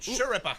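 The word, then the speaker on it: Schirripa: Thursday, and that Steve Shurippa. That's going to be a problem for me. It's like Sure and Rippa. Remember Kelly Ripa was Sure in front of it. Shurippa.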